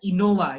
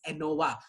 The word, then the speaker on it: ANOVA: Okay, don't pronounce it as INOVA. It is not INOVA, it is ANOVA.